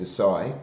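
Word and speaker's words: açaí: it was SAE and he was saying it's acai okay and I've seen both variations so well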